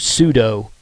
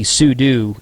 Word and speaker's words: sudo: pseudo sudu is suo it's commonly pronounced pseudo it's actually sudo and it's um it